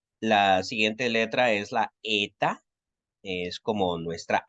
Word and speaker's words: eta: Y va a sonar como EI, como si fuese un diptongo. EI en rey, ¿no? Cuando estemos pronunciando las palabras, vamos a pronunciarla como una E un poquito larga, con un pequeño sonidito de I al final.